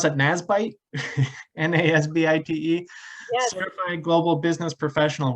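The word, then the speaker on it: NASBITE: sbdc roberta wench is a nat do you pronounce that nasbyte n-a-s-b-i-t-e certified global business professional with over 15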